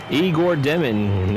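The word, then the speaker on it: Igor Demin: Igor Deman, that is his pronunciation.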